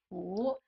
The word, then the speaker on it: 蝠: That's because in Chinese, bats in Chinese is 蝙蝠. 蝙蝠. Right. And 福 has the same pronunciation as 福气的福, blessing.